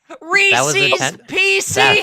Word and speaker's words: Reese's Pieces: It's called Reese's Pieces. It already rhymes. You don't have to change the pronunciation.